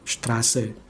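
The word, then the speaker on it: Straße: Nah, yang bentuk estet-nya itu yang kayak B-nya itu jadi s strase.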